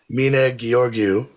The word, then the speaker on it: Mihnea Gheorghiu: I am super pumped to have this Romanian chief creative officer, Mina Giorgu. Did I crush it? Yep. I mean, that that was a pretty good pronunciation of a very complicated Romanian name.